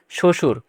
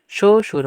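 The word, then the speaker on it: শ্বশুর: হবে তয় কয় তক শশুর শশুর মানে শবশেষে যে ব থাকবে সেটা উচ্চারণ হবে না পরে শব্দের মধ্যে বা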